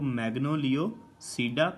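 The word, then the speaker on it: Magnoliopsida: Class जो है वो मैग्नोलियोसीडा, पी यहाँ पे साइलेंट है, मैग्नोलियोसीडा, इसको पसीडा नहीं बोलना, मैग्नोलियोसीडा।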